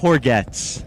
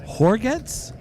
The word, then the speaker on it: Hourguettes: It's got a little French origin to it. Horgetts? Yes, Horgetts. How do you spell it? Hourguettes. Wow. So it's a mouthful. It's like baguette. A little like baguette.